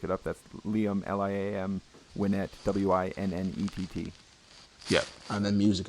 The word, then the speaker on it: Winnett: Do you pronounce that? Is it Liam Winnett, or do you say Winnett or Winnett? Yeah, Winnett.